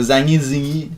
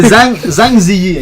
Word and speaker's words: Zhang Ziyi: Ken Watanabe pis de Zangi Zingi. Je pense que c'est ça son nom, Zangi Zingi. Je l'essayerai pas de le prononcer. C'est Zhang Ziyi, ok? Zhang Ziyi.